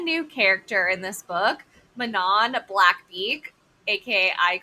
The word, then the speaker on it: Manon: I just learned that it was Manon, like literally minutes ago.